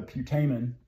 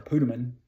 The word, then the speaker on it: putamen: We also have the putamen, or putamen, which I've heard it pronounced both ways.